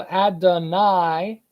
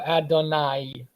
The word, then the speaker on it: Adonai: So this capital T underneath the letter signifies the ah sound or ah sound. So Adonai is what this is telling you. The T underneath the letter, it has the ah, and then it has the E sound at the end.